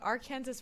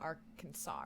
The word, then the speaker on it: Arkansas: in Kansas it's the Arkansas river crazy so you pronounce it R Kansas when it's in Kansas but when it's outside of Kansas it's Arkansas because you pronounce the state Arkansas interesting that's annoying like what's that?